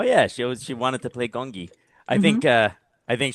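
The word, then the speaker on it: Gong Yoo: you're you're jongi, and they're like, "Mommy, it's not jongi, it's gongi."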